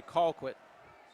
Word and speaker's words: Colquitt: we're pronouncing names correctly i should say call quit uh flag on the